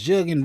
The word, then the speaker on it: jugging: They say it's jugging rhymes with muggings in the spread.